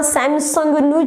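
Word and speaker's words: Samsung: મારા ઘરમાં સેમસંગનું જ ફ્રીજ છે, સેમસંગનું ટીવી, સેમસંગ વોશિંગ મશીન. હા, હોઈ બી શકે. સેમસંગ એકચ્યુઅલી તમારી ખુદની કંપની હશે, બટ આ કંપની નામ ઇઝ નોટ સેમસંગ, ઇટ્સ સેમસોંગ.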